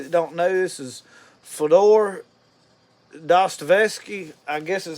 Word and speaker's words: Dostoevsky: So for those of you that don't know, this is Fyodor Dostoevsky. I guess is how you say it. Dostoevsky.